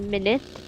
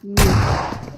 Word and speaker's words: Mute: You know, I've used to always misspell it as minute. Like I literally thought it was minute, but seems to. I mean, it was just yesterday I realized it was Mute.